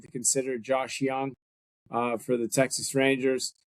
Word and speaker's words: Jung: goes in fantasy, Josh Jung. Uh maybe Josh Young uh I believe is it's pronounced.